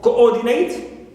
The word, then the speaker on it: coordinate: coordinate, on or, not on co.